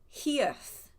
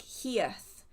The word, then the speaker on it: hearth: I say it like earth with a H in front of hearth.